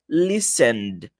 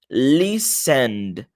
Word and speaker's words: listened: Então, fica listened. Listened. Repara que eu não falo listened, não é esse ned a pronúncia.